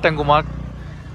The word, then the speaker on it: ট্যাংমার্গ: ট্যাঙ্গোমার্গ ওরা বলে ট্যাঙ্গোমার্গ, লেখা দেখি ট্যাংমার্গ, উচ্চারণ আর কি ওদের।